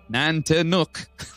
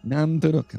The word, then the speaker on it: Nantiinaq: Nantiinaq pronounced Nantiinaq. It's right there. Nantiinaq, Nantiinaq. Yeah. That's nuck, not nook.